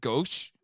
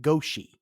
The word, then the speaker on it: Goshi: Although I think sometimes I swear when they said his name, that just sounded like they said Gosh. Gosh. That's what I'm hearing. That's what I was hearing, but it's spelled like Goshi. Yeah, and I did hear Goshi a couple of times.